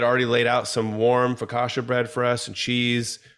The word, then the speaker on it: focaccia: there custom yes we walked into is it focaccia bread am I saying it right Focaccia yeah